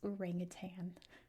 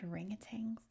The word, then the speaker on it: orangutan: reason, we call it orangutang in America. Like there's a G at the end. There isn't. We pronounce them orangutang.